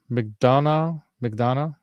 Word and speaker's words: McDonough: McDonough? It's like almost like Mark McDonald, but it's McDonough.